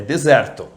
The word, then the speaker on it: desert: Então, para deserto nós dizemos desert. Desert. Desert. E sobremesa, aquela que a gente adora, a gente vai dizer em inglês dessert. Dessert. Dessert.